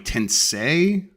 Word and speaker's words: Tensei: And Goldie says Persona series as opposed to the Shimigami Tensei. Yes, Tensei, yes. Rhymes with Sensei.